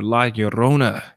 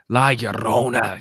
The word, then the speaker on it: Llorona: Because you're coming in with the double L's. La Llorona. You got to roll the R's.